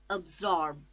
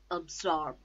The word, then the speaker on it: absorb: first syllable absence absence absorb two syllables again a zorb absorb the stress is on second syllable storm and see absorb